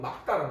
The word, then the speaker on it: 맑다: 그렇지만 리을 기역 같은 경우는 기역으로 발음해야 되니까 정확한 발음은 막다란 말이야.